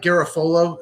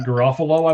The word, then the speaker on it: Garofalo: I emailed you, Mike Garafolo, who's an insider at NFL Network. Did you see his tweet? Mike Garofalo, I believe, is actually how it's pronounced, but that's okay.